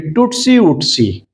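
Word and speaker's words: tootsie-wootsie: TOOTSIE hyphen WOOTSIE of the word pronunciation will be Tutsi Utsi.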